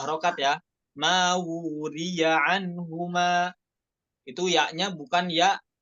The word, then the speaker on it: وري: Mawuriya 2 harokat ya. Mawuriya anhuma. Itu ya-nya bukan ya, bukan dibaca mawuri, tapi di situ dibaca mawuriya anhuma.